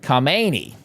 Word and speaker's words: Khamenei: Ayatollah Kmeni was replaced by Ayatollah Kamani. If you can even hear me say the difference there. And I don't speak the the language but I mean they're they're pronounced very similarly.